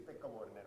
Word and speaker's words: Pekka Vuorinen: And welcome Pekka Vuorinen. Yes? How do you pronounce your name? Quite okay. Tell me, how do you say it yourself? Yeah, it's Pekka Vuorinen, but...